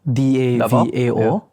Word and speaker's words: Davao: D A V A O. Uh, don't know if I'm pronouncing it wrongly. Correct. Davo.